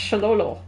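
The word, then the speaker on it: Xolo: she Loan in because the type of Mexican dog is pronounced sholo Sho greo Ma we're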